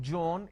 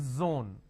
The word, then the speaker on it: zone: It's not John, it is zone.